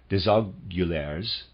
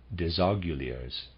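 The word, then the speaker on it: Desaguliers: gradually lost thus it came about that when disagularis readers aside apologize for the pronunciation d-e-s-a-g-u-l-i-e-r-s disogularies and the reader's aside reunited Freemasonry in England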